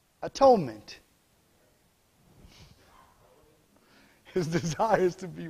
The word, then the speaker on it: atonement: that means if you're breaking down three syllables at one meant atonement his desire is to